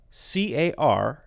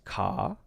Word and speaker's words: car: When he says C-A-R, it's ka. And so the ending of the word has the R, and it's that open sound. Singaporean or British pronunciation would be ah. Americans would say R, car, ka.